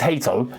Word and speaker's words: Hato: It's Hato, yeah?